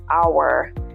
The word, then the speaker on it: hour: be arriving in an hour the same thing is at play here our has an initial vowel sound and the H sound is omitted so we say an hour and finally number six